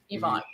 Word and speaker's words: Yvonne: Just think of it Evon. Yvonne.